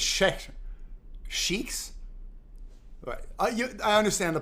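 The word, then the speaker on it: Sheikh: It's pronounced shake.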